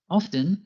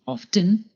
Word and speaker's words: often: Often can be pronounced two ways, by pronouncing the T, often, or by not pronouncing the T, often. Both forms are correct and depend on where you live.